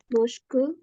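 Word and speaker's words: mosque: Church kalau masjid apa masjid mosk mosk bacanya mosk m Heeh ke Kalau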